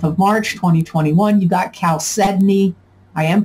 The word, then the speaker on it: chalcedony: march 2021 you got cal sedney i am pronouncing it right it's not chow sydney it's cal sydney and the way you